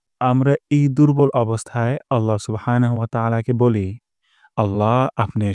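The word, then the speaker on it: سبحان: সুবহানা, সুবহানা। তারপর রব্বিয়াল। যেন এমনটি না হয় রাব্বিয়াল, মোটা করে উচ্চারণ করতে হবে।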